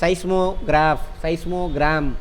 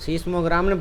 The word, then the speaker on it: seismogram: அதை ரெக்கார்ட் பண்ணக்கூடிய மெஷின் சைஸ்மோகிராம் அப்படின்னு சொல்லுவாங்க. பார்க்குறீங்களா, அது சீஸ்மோகிராம்னு படிப்பீங்க தமிழில். அது ஆக்சுவலாக இங்கிலீஷ்காரன் ப்ரொனவுன்ஸ் பண்ணுறது என்னது, சைஸ்மோகிராம்.